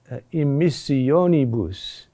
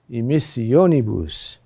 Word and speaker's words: immissionibus: So, for example, immissionibus, immissionibus. There, the accent is there. 1, 2, 3, that makes a dactyl.